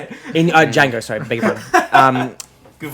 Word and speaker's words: Django: The D is silent. Yeah, damn it, I was about to say it. In Django, sorry, beg your pardon.